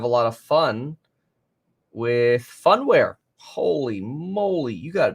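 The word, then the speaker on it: Phunware: lot of fun with funware. Holy moly, you got to be kidding me. Funware, funware spelled with a P and an H.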